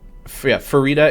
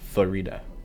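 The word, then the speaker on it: Farideh: Either way, Farida is like fajita, but with a re. Farida. Wait 1 sec. Be right back. That's how I remember Farida.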